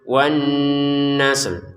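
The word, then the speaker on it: والنسل: Berarti ada dua huruf yang disukunkan ya. Pertama sukun asli, ada tanda sukun di atasnya. Yang kedua huruf yang dibaca sukun karena kita berhenti. Jadi ada dua huruf, cara bacanya wan nasl, wan nasl. Jadi ada sin dan lam yang kita baca.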